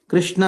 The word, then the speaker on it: Krishna: Krishna has got 2 syllables, Krish and Na.